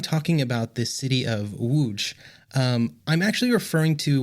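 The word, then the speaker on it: Łódź: uh in English um that's not how it's pronounced in Poland so I'm going to go with the Polish pronunciation which hopefully I'm pretty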